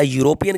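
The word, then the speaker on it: European: ए इसका बिल्कुल सही है, क्योंकि ये जो ई से है ना, ई इसको साइलेंट है और ई को छोड़कर आप इसको रीड करेंगे तो ये आपको साउंड देगा या का।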